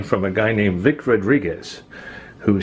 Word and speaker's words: Rodriguez: light foreign Victor Rodriguez now Rodriguez has a u in it but I never pronounced the U I don't think most people do it's just Rodriguez I've never met Vic